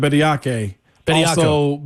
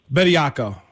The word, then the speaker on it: Bedo: also just having, how do you say it? Bedo being part of this equation too. Byako. Bettyo, sorry, I hate when people mess up my name.